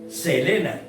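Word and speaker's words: θέλημα: con una letra de y se pronuncia selena voluntad o deseo sea la palabra selena significa voluntad o deseo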